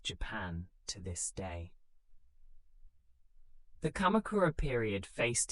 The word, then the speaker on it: Kamakura: Rather than ruling from Kyoto, he set up his headquarters in the eastern town of Kamakura, pronounced Kamakura.